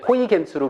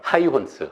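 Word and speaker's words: Huygens: 우리 정프로님은 고등학교 때 배울 때 호이겐스로 배우셨어요? 하이혼스로 배우셨어요? 호이겐스랑 하이혼스. 굳이 따지면 호이겐스가 좀 그쵸? 더 뒤에 근데 이것도 바뀌어갖고 요새는 하이혼스. 그 나라의 발음을 따라하자라는 걸로.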